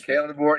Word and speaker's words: Kalen DeBoer: I always mispronounce his last name. Is it Kalen DeBoer? Kalen DeBoer.